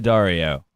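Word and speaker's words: D'Addario: cable which they release wait on how to pronounce that one more time from them themselves it is the Dario yeah no that is the official way to do it and I should mention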